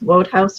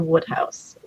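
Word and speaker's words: Wodehouse: a lot of pg i never know if it's pronounced vote house or woodhouse pg pg woodhouse i think is the pronunciation um which is not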